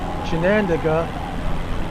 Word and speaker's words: Chinandega: And then Chinandega, that's how she was pronouncing it, is ahead of us.